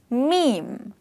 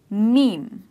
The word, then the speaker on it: meme: pronunciation of this word rhymes with the word dream so the way you say dream the same way you say this word which is mem so the correct pronunciation for this word is mem and you say it